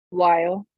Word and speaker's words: while: Antes de toda L hay una pequeña vocal, ya se los había dicho antes con beetle, ¿cierto? Por eso, ya saben ustedes que esto aquí suena I, entonces hasta aquí tiene efectivamente toda la lógica del mundo, ¿cierto? Why. Pero luego viene otra vocalcita chiquitiquitica antes de la L, while, while.